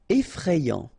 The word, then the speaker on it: effrayant: Effrayant. Okay, so final T not pronounced, and then you get effrayant.